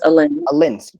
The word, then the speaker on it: Alin: It's Aylin? Is that how I pronounce that right? Aylin? It's Alin.